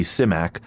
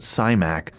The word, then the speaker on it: Simak: Simak. I know other folks with that surname pronounce it Symack, but I am getting the pronunciation of his